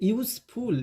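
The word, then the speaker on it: useful: इसे यूजफुल, यूजफुल, okay, यूजफुल।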